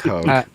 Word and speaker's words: Hoge: So I think she face palmed our pronunciation, Alex. So Hoge. See, I got it. So Hoge.